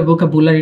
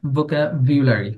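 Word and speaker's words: vocabulary: একটু মাথায় রাখি ভোকাবিউলারি আচ্ছা উচ্চারণটা ভোকাবুলারি না ভোকাবিউলারি কি উচ্চারণটা কি হবে ভোকাবিউলারি ভোকাবিউলারি আমরা এখন একটু শুনবচ্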